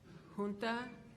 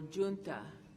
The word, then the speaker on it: junta: The word is, it has two pronunciations, junta or junta.